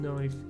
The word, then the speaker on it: knife: which makes sense um we used to pronounce the k in knife I don't actually know